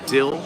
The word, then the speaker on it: DILIH: Dill is how you pronounce it.